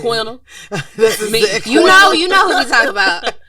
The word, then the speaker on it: Quinta: Keita. That's not how you Although I have heard Quinta. That's So I might be how I wrong. was saying. Quinta.